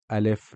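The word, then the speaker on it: ال: which we just finished and now we have alef Lam or it is also more formally known as so let's jump straight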